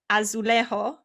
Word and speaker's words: azulejo: covered in blue or azulejo tiles it's you say as lazy can you say what yes yes excellent i i always forget that in uh portuguese the j is actually pronounced instead of silence yes so and like